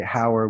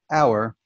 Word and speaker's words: hour: know our you know we don't really pronounce the h in the word hour we don't say in